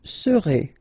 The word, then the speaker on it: serez: Vous serez, a Z together at the end, et serez, all right?